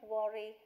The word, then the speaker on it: worry: அடுத்தது வந்து சரி பரவாயில்லை, தயவு செய்து கவலைப்பட வேணாம் அப்படின்னு சொல்லும்போது that's all right, please don't worry. How did I pronounce this word? Worry. W words round your lips.